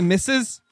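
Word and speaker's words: Mrs.: Deer in a while y'all Americans say misses yeah when some when when a woman is married uh their abbreviation like at the beginning becomes misses like mrss misses and then like if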